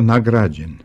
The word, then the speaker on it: nagrađen: Naime, u obliku nagrađen čuje se neakcentovano a kao dug vokal, što znači da se i neakcentovani slogovi javljaju kao dugi ili kao kratki.